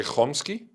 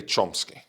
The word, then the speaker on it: Chomsky: So in Israeli, I say Chomsky, and in English, I say Chomsky. So he wanted the pronunciation to be according to the language.